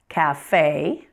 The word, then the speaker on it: café: Words that have been borrowed from French pronounce the final E as A. For example, resume, café, fiancé.